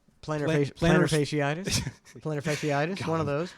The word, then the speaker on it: plantar fasciitis: I'm going to say it wrong because I always Palantir's fasciitis. Plantar Plantar- fasciitis.